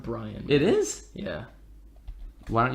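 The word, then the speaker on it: Brion: I know, but it's pronounced Brian.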